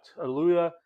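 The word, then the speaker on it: Tallulah: Uh, Tuluya Bank. I have to read this. Uh, it's spelled T A L L U L A H.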